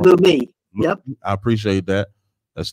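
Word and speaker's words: Leumi: That's the original name of the bank, Luamai. If I'm saying it wrong, Lumi.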